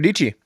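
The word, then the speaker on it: Dietschy: These all like Oh, Sarah Dici yeah. So rhymes with Beachy.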